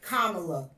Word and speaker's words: Kamala: can't pronounce her name. It's Kamala.